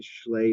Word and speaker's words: Schley: My name is Schley. That's the American pronunciation of it. It's, of course, a slave name. It's actually a German Jewish name, which is pronounced Sly.